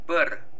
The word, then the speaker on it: bir: Bır. Bır. Şimdi bazıları soracak. Neden noktasız? Hani Türkmence'de şöyledir arkadaşlar. Küçük i noktalıdır. Büyük i ise noktasızdır. Bunu bazen hani ses değişimi oluyor. Bir yerine bır diye okunur Türkmence'de.